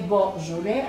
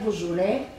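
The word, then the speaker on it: Beaujolais: и сега ще разберете на френски не е божоле а е божуле с ударение на последната сричка учениците нище представят и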